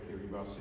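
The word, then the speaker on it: Kiribati: far I guess some of you know where Kiri bus is you pronounce it Kiri it's one of the small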